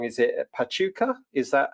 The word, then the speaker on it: Pachuca: Is it Pachuca? Is that how you pronounce it? Yeah. Yeah. So Pachuca in Mexico, and that is just to the northeast of Mexico City.